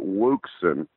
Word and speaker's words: Wouxun: But in Paris, Texas, we pronounce it Wuxen. Wouxun. I know everybody's familiar with that. Somebody may say O'Sheen. I've heard it pronounced. And I think that's the proper way.